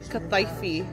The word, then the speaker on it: kataifi: It's meant to be called kataifi.